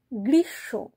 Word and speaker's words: গ্রীষ্ম: তালুব্যস হয়ে যাচ্ছে আর তারপরে যে ম টা সেটা উচ্চারণ করছি না হচ্ছে তালব্যস ওকার মাথায়